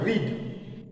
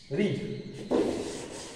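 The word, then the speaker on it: read: উচ্চারণটা আমরা কিন্তু রিড করবো না, সেকেন্ড ফর্মে উচ্চারণটা আমরা করবো রেড, আর ই এ ডি বানানটা কিন্তু একই।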